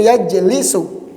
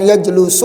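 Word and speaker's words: يجلس: pada bab yang kedua yaitu yajlisu ya bukan yajlusu atauasu inian fungsi nanti kalau antum sudah tahu bab ini ketika harakatnya gundul bisa kebaca kan dan bacanya enggak salah kan banyak kemungkinan tuh fi'il mudhornya bisa yajlusu yajlisu yajlasu yang mana nih Nah karena dia masuk bab yang kedua berarti kita baca yajlisu I itu biar enggak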